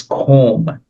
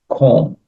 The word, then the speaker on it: comb: And notice it's comb, not comb. So the B is not, it B is silent, comb.